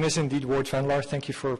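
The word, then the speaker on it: Ward Vanlaar: automated for enforcements um my name is indeed Ward vanar thank you for pronouncing it properly I'm the vice president research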